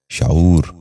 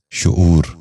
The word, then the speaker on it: شعور: غور سے سنیے، شرمندگی۔ پانچواں لفظ ہے شعور۔ یہ غلط تلفظ ہے، درست تلفظ ہے شعور۔ دوبارہ سنیے، شعور۔ بچوں آپ بھی غور سے